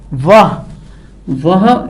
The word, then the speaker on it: वह: वह, same thing with that, you don't pronounce the ह एंड यू से वे.